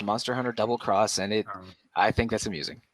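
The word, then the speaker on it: Monster Hunter XX: MHXX is pronounced Monster Hunter Double Cross, and I think that's amusing.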